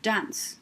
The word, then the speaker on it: dance: it down job two final silent e makes c say s don't put a full